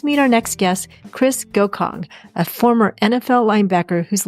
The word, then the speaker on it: Gocong: do you say your last name it's uh goong g o c o n g and um